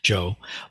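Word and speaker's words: 常: is the character and this is the Japanese pronunciation Joe Bliss Raku true self G and and we'll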